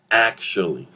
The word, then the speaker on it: actually: Okay, as you can see, the sound pretty much reduced, disappear, and now it's a 2-syllable word, actually.